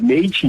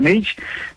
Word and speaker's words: Meith: meu nome é Meite, então no Instagram pode pegar Meite. O meu sobrenome se escreve M-E-I-T-H, Meite.